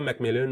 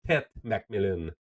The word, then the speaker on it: McMillan: Tu as entendu aussi la mère de Tetara McMillan qui a dit que c'est Tetara McMillon où on peut l'appeler TMAC mais pas T Millon.